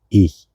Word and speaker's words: ich: I, ich, yo, ich, y i, ch. Cuando se ve, se lee en alemán ch siempre se pronuncia así, muy suavecito, acá en el gasnate, muy adentro y o también se